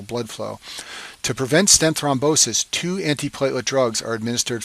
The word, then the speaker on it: thrombosis: complication is called stent thrombosis and this name rhymes with restenosis but it's a completely